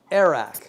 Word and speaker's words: arak: any because no she's pregnant now this is arak am I pronouncing that correctly it is arak and I'm gonna say a shout out to